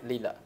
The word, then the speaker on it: Lillet: Một là gin, hai là lila, nó đọc là lila chứ không phải lilac.